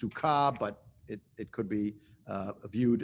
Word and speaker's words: Sukkah: It's pronounced Sukkah, but it could be viewed in a particular light, not for now.